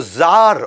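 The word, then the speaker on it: czar: Russia के अंदर उनको जार बोला जाता है वैसे सी जार होता है लेकिन सी साइलेंट होता है ये इंडियन आईटी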